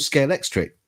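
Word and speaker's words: Scalextric: They're called Scale Electric.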